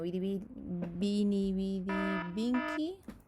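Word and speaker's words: veni, vidi, vici: Por ejemplo, esa famosa frase de Julio César, ¿no?, que era Vini Vidi Vinci, que, bueno, Vini Vidi Vinci, tal como se pronunciaría en latín, que significaba llegué, vi, vencí.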